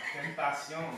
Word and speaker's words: Tentacion: And they led you to believe that it was extension. Yeah. Tentacion.